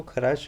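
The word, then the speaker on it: Kharasch: जो फॉलो करता है, इस इफेक्ट को खराश इफेक्ट भी बोलते हैं, खार्श भी कहते हैं कुछ बुक्स इसको। स्पेलिंग डिफरेंट मिल सकती है, कोई दिक्कत नहीं है, ध्यान रखना है खार्श इफेक्ट है।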